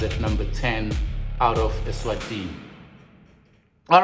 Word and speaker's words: Eswatini: Original is from Swaziland, was born in Swaziland or Eswatini, to say it correctly, Eswatini.